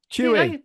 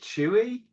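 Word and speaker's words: Chuy: Chewy. Chewy. Chewy. Yeah, that's what we thought as well. I was like, is it Chewy? Like Star Wars Chewy? It's spelled C H U Y apparently.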